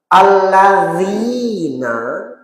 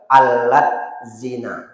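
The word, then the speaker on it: الذين: ditulis allina Itu hurufnya a l l a d z i n a Kalau ditulis kalau dibaca alat zina padahal bacanya alladzi Nah itu makanya baca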